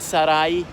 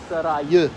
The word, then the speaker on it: Sarayı: Okay, these Turkish buns, simit saray. Sarayı, I should pronounce it, as in Seeds Palace.